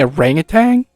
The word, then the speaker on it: orangutan: Did you say orangutan? An orangutan, there's no G on the end of it. Everybody pronounces it orangutan because of the British accent.